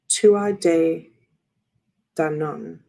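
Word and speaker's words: Tuatha Dé Danann: Tuatha De Danann, the ancient Irish pantheon of divine beings.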